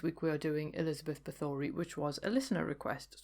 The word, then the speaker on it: Bathory: Now, I must point out that I'm pronouncing it Bathory because that's how I was told it was pronounced, because I'd only ever seen it written down.